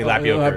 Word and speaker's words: Lapayowker: Excuse me, Lapayowker. Lapayowker. Yeah. That's okay. Yeah. You're not the first. Yeah. I usually have to say it's tapioca with an L, so people know how to pronounce it.